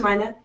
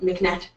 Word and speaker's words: MyNet: It's pronounced MyNet, again, not McNet.